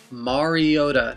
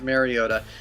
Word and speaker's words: Mariota: was that marcus mariota say it right mariota not mariota has been named the